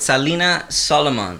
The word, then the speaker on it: Salina Solomon: Hey, Music City Spotlight, hanging out with Salina Solomon, right? Is that how you pronounce it? Oh, yeah. Did I do it right? Yeah, you did it right. Well, you did it in like a Spanish accent, but I'm feeling that.